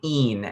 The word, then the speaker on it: in: singers of Latin that this IN, it's so easy to pronounce that as in because that's the English word that it looks like. And to remember that this is really een.